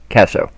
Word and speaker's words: Kaso: Let me be sure I pronounce this right. Xanato Xan Kaso. Kaso? Kaso.